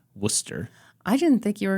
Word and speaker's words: Worcester: spelled w r c s t r but pronounced Worcester I didn't think you were going to spell